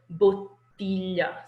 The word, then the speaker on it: bottiglia: In Italian, you're not rushing. There's extra syllables there. So bottiglia. So bottle, one, bottiglia. See how the length differs, and you have to linger there.